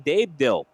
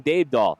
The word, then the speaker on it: Dabedahl: I just got the proper pronunciation from our very own Megan Olds, and I still botched it. So we will try to implant that in our minds as far as the correct pronunciation of that third place driver, Dean Dabedahl.